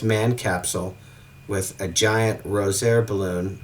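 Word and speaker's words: Rozière: And in Europe, I found a pressurized manned capsule with a giant Rosier balloon, or Rosier balloon, I think is how it's pronounced.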